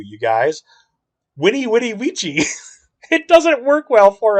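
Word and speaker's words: veni, vidi, vici: if you're like oh vinny vinnie vichy but if you say it in the actual latin the way it's pronounced the v is a w you guys winnie witty ouija it doesn't work well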